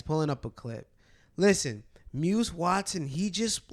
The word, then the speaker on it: Muse: loose moose loose MUSC I think it's pronounced as muse Muse Watson though that brother is